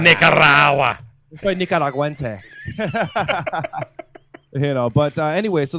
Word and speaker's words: Nicaragua: it's pronounced Nicaragua. Nicaragua. Nicaragua.